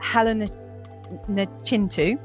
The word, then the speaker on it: Helen Nachintu: health and wellness so my guest today is Helena chin - I just want to make sure I pronounced that right did I get it right